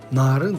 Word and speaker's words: Naaryn: корни от блюдо нарын naar een произносится с двумя а не путать с узбекским блюдом narin narin состоял из мелко на